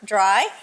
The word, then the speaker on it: Drye: it I don't know I think it's the fact that there's an e on the end this Dr y not just Dr y I think dry people